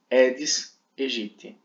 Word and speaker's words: Aedes aegypti: Então o A seguido de E, ele não tem uma sonoridade na palavra. Logo, é Aedes aegypti, ok? Não é Aedes aegypti, nem é Aedes aegypti. Não fala do jeito errado. Pronuncia-se Aedes aegypti, tá bom?